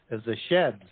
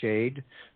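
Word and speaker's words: שד: That goes back to the Hebrew word shade, or shed as it's pronounced, number 7700.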